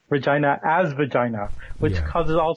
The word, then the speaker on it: Regina: Actually, the pronunciation is Regina, but most people who aren't from Regina avoid that because it sounds a little bit too much like vagina.